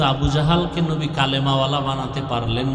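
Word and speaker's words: أبو جهل: আবু জাহেল। জেহেল না জাহাল। নাম হলো ইমাম গাজালী বলে গাজ্জালি না গাজালি বিশুদ্ধ উচ্চারণ গাজ্জালি না আর আল্লাহ যদি কবুল করে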